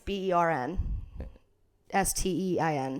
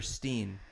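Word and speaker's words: Berenstain: It's actually Bernstein. Oh. But people remember Steen. No. I've heard the theory. And I remember Steen.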